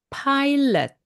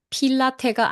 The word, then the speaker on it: Pilate: 영어권에서는 Pontius Pilate, 마치 비행 조종사 파일럿과 같은 그런 발음으로 파일럿이라고 발음합니다. 그래서 Pontius Pilate, 이 발음을 주의해 주세요. Pontius Pilate, 필라테가 아니고요. Pilate, 이렇게 발음을 좀 특이하게 하고요.